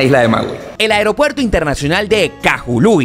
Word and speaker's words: Kahului: acá en la isla el Aeropuerto Internacional de cajulú y que es como realmente se pronuncia es el que sirve a la isla